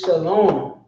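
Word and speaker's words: שלום: this is not shall I want this is Shalom how does he know because he made the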